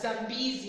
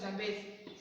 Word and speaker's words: Zambezi: So this name, that's where we got our country's name, is pronounced as Zambezi actually, not Zambezi. Most of us like saying Zambezi.